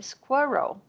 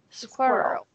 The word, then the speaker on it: squirrel: query there you go perfect and the first syllable is distressed once a squirrel squirrel yeah there you go yeah what is the